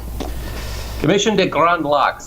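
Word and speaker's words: Commission des Grands Lacs: in French it's the uh gr gr lck commission de gr locks is is the French pronunciation or Great Lakes commission but we're we're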